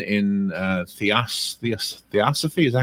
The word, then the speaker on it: Theosophy: I'm looking on Amazon, and it's #1 in Theosophy.